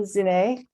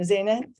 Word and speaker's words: Zineh: Issam Zineh, or no, I've just said it wrong, Zineh, is a Palestinian American poet and scientist.